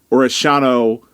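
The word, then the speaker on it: Orellano: Orishano, that still feels weird saying it that way, but I'm going to force myself to do it because it's the right way to say it.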